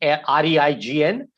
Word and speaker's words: reign: correct one absolutely right it's just one syllable it's pronounced like r e y n although the spelling is g r e i g n the way you pronounce